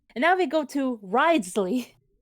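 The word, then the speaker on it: Wriothesley: And now we go to Ridesley. Ridesley is how you say his name.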